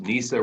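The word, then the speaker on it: Neysa: know that it's pronounced Nisa rhymes with Lisa Flagger rhymes with tiger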